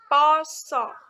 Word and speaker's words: pasa: Seperti ada kata poso. Penulisannya seperti ini, pasa, tapi pengucapannya poso. Nah, kata a di awal po itu menggunakan a jejak karena pengucapan dan penulisannya berbeda. Lalu a yang kedua, sa ini juga menggunakan a jejak karena pengucapan dan penulisannya itu tidak sama, menggunakan aksara ngalanggeno. Penulisan pasa menjadi pengucapannya menjadi poso.